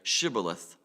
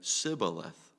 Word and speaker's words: shibboleth: said no I'm not they would tell him to say shibboleth if he was from Ephraim he would say sibboleth because people from Ephraim could not pronounce the word correctly then they would take